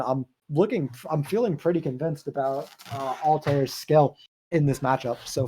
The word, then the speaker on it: Altair: Yeah, they say it's pronounced Altair.